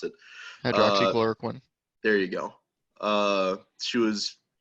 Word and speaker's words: hydroxychloroquine: Because basically, if you have a lawsuit where someone was hurt by like she was touting hydrochlorine, however you pronounce it. Hydroxychloroquine.